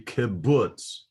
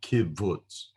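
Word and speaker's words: kubutz: i remember the term kibbutz kibbutz uh the kibbutz is pronounced as a you as in ruler so this is um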